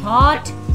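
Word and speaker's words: thought: Then थॉट, जी H silent है।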